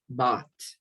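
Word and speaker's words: bought: okay be careful here the pronunciation of the verb to buy in the past is bot but be careful not to confuse it with like both it's not both both b-o-a-t is barco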